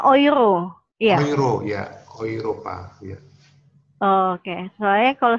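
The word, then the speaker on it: Europa: Mau berarti kalau misalnya kayak euro bacanya euro, iya. Euro ya, Oiropa ya.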